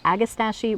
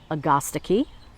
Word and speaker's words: Agastache: This is called Agastache Morello. Now, some places will tell you it's pronounced Agastache. Some places will say Agastache. Meanwhile, I was saying Agastache. So I'm going to go with Agastache Morello.